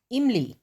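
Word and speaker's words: इमली: In Hindi, we call this vowel choti e or small e because while pronouncing this e, we take very short pause as in the Hindi word imli.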